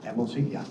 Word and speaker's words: Amelzi: Is that pronounced correctly? Amelzi, yeah.